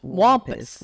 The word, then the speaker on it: cattywampus: Wait, is it wombus or wampus? Wampus. Wampus. What is the origin of this? Does it have like? I feel like I'm on a spelling bee. Can you spell it for us? Yeah, it's C A T T Y W A S, or sorry, W A C A C A T T Y W A M. P-U-S. Wampus.